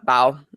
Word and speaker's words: Bao: reasons because it's just not available uh yeah bow that's what i think what it is are we pronouncing it right yeah okay i want to make sure because when i first thought i'm like oh bao it's not like i know that's what i